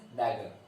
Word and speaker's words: dagger: So this is not T, this is a dagger. The pronunciation is dagger.